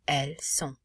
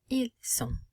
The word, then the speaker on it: ils sont: But also notice how we cannot pronounce the final T, and the N does not have an E following it. So the N is not pronounced, and O is nasalized.